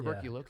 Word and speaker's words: tuberculosis: tuberculosis. Yeah, Tuberculosis. close. Tuberculosis. Yeah, I pronounced it wrong, Yeah, but yeah, I'm gonna well, get roasted for that.